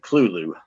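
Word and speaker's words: Cthulhu: He pronounced it clulu and um he said it just as civilized like that which sounds just a little too you know unlove crafty and say it like that because you love craft one the first be pronounced very guttural and very thick.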